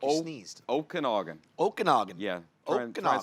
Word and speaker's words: Okanagan: Mom now lives in the Okanagan, which is absolutely beautiful. The Okie it's what? like- The yeah, what? That sound like you sneezed. Okanagan.